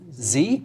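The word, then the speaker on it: ze: me with pronunciation here, is it Z? Z, like he or she. Here, or they, need to be accommodated equally. Okay, Danielle, help me there, because you were right on that. Z and here refers to what?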